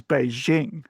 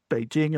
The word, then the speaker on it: Beijing: So, Beijing is like jingle bells, right? The jing of jingle bells. Um, but you'll even find because that pronunciation is so common, you'll you'll find Chinese people using using Beijing when speaking in English,